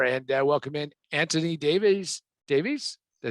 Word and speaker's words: Davies: Davies? Did I say it right? Davies, yes.